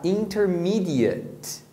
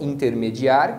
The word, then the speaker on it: intermediate: intermediários de inglês então quando você tá falando intermediário como adjetivo você vai pronunciar intermídias Então esse finalzinho não é apps é antes então você tem o verbo intermediar que é intermediate com som de leite e existe o intermediário que você vai pronunciar intermedia Então você é um